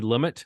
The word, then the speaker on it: Lumet: we did try to roll with some new pronunciation, but it's futile. It's Sidney Lumet.